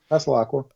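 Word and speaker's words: Allen Passalaqua: Did I pronounce that correct? Yeah, Paslacqua.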